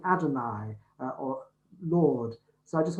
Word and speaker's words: Adonai: four consonants in hebrew you don't pronounce them you pronounce the word adonai which means lord which is why we